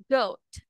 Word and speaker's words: goat: Goat. Good. Yes, you have this OA. It pronounced as O, goat, O.